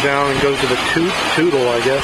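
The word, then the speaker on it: Toutle: It flows down and goes to the Tootle, I guess. They pronounce it Tootle River.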